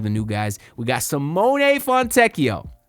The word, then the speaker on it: Simone: I do want to make note that it is pronounced Simone. I will do my best to try to not call him Simone. Simone. So, I want y'all to know that cuz I heard him say it himself.